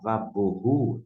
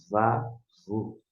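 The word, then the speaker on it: ובהו: Desta maneira você pronuncia vá, em vez de falar vaborru, esse B com tracinho aqui dentro da norma internacional, equivale ao V. Vavorru, vavorru, vavorru.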